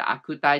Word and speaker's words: 悪態: のことだし悪いタイプと書いて悪態って読むんでしょうあれをまあ鈍っ